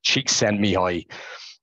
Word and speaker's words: Csikszentmihalyi: If you haven't heard of him, some of you probably have, and I've spelled it out phonetically there, which would have helped me 2 years ago. Csikszentmihalyi.